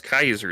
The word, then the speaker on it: Caesar: It's not Julius Caesar Zeppley. It's Julius Kaiser Zeppley, right? Because they go they go for that old Latin pronunciation, too. He specifically points it out. It's Julius Caesar, but it's pronounced the Latin.